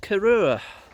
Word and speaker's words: Corrour: And he invited me to come and join him at Corrour.